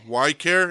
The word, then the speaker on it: Ykare: i was like what how do you say your name why care and you're like dude no way the only person that said it right i was like hell